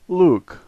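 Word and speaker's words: лук: The first letter is L, the second letter U, and we're all familiar with the K sound, and so this word is Luke, Luke.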